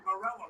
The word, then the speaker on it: Marella: Joey Marella, referee, that's how you say it.